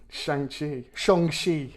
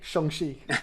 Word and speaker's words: Shang-Chi: Shang-chi, as it's now correctly pronounced, if you're to believe Kevin Feige. Shang-chi.